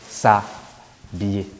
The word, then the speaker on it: s'habiller: But this H is silent. And this will clash with this. Se habiller, no, that shows vowel clash. To avoid that, this takes this away and gives us s'habiller.